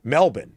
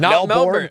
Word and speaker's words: Melbourne: I have learned that the locals in Melbourne, Australia pronounce it as such. Melbourne, not Melbourne.